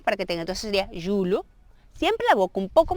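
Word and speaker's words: julho: Y luego sería de julio, sería, disculpe, julo. Es aquella pronunciación con LH, que es una L, pero vamos a ver,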